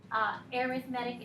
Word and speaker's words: arithmetic: a type of math arithmetic is an adjectives and it describes the type of sequence so when it's an adjective it gets pronounced a little differently so it's an arithmetic sequence the other sequence we